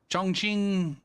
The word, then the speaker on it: Chongqing: ] racist I'm sorry I'm pretty sure that Q is pronounced CH I don't know know how the CH is supposed to be pronounced uh this is a